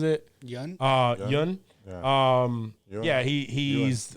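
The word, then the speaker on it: Yeun: But Stephen Yuen, or is that how he pronounces it? Yun? Yun. Yun. Yeah, he's Yun.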